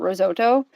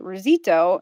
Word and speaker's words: risotto: And so for the longest time, I thought risotto was spelt with an extra I, like risito and not risotto. And Hmm. so I would always say risito, and my kids would say risito.